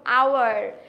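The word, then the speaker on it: hour: আমাদের ফার্স্টে আসছে এ, যেরকম আওয়ার, এইচ কনসোনেন্ট, বাট সাউন্ডটা কি? Vowel, আওয়ার। ইয়েস। হাওয়ার তো আর হচ্ছে না, তাই না?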